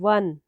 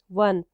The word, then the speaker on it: one: जो word one है it starts with a vowel letter but sound इसका यहाँ पे है consonant sound, one, W की sound है one, तो इसलिए यहाँ पर आर्टिकल अ आएगा।